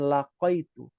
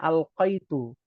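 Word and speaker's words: ألقيت: pelajaranf ya detailnya tapi dibacanya adalah Bukan laqitu Ya bukan laqitu adanya alqitu Ada lagi beda lagi itu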